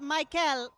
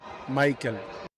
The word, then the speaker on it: Maikel: It's not Mykel, it's Maikel. Hold on. You're telling me this entire time we've been pronouncing his name incorrectly? It's Michael Garcia? Hold on, let me play this again. It's not Mykel, it's Maikel.